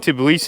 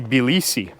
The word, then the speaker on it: Tbilisi: I should stop saying Tbilisi because the locals say Tbilisi. So, but I think Tbilisi is acceptable too.